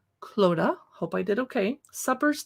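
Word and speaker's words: Clodagh: up clothes suppers i looked up how to pronounce her name cloda hope i did okay suppers to celebrate the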